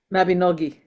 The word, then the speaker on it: Mabinogi: And because I I got into the second half of the last Mabin I I can't remember how to pronounce it. Mabinogi.